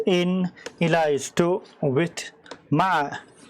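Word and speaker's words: مع: Min is from, fi is in, ila is to, with, ma, it's pronounced ma, with, ala, on, qaribun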